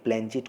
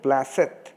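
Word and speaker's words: planchette: তুই একটা গাঁধা আরে প্ল্যানচেট করে ভূত নামায় জানিস নে এর মধ্যেই কোত্থেকে পাঠার ঘুগনি চাটতে চাটতে কেবলা এসে পড়েছে বলে উহু কথাটা ভুল হলো ওর উচ্চারণ হবে প্লাসেত থাম থাম বেশি ওস্তাদী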